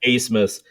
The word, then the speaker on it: Abmas: For Texas, ABMAS, and his name is pronounced Asmus.